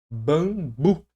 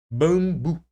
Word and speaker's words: bambu: Naquele caso bambu, sempre que você vê esse tipo de situação aqui, esquece o M ali, ó. Tira o M, bota um tiozinho aqui em cima, ó. Bambu, bambu, bambu.